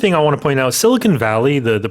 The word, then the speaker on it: Silicon Valley: I want to point out Silicon Valley the pronunciation a lot of people say silicone valley or silicon valley.